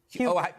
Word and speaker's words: Huger: It's been pronounced right? It's been both ways. And is it Karen Hugger or Huger? Huger.